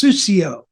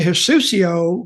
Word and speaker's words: Sucio: And I saw Dirty translated, of course, in Mexico, it's her native language, into Spanish, and it's Sucio. Sucio Dominik Mysterio. Well, actually, Sucio rhymes with Mysterio.